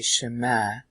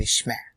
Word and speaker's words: shema: Now, in the old days, they used to say shema, shema, and today they say shma. Alright, the typical Jewish way of saying it is shma, instead of shema.